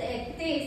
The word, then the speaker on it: étaient: Il, elles étaient. Same pronunciation. Étaient.